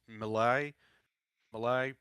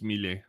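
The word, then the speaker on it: Milei: It's because Malay Mala, I think that's how you pronounce it, is Yes, it's I I already said this. It's mille.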